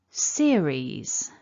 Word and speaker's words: series: At the beginning, we've got the letter E, but remember it's a double vowel, ear.